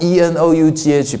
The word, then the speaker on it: enough: E-N-O-U-G-H pronounce enough. Have you ever think about that? It's strange spelling, but it pronounced enough. There's no F.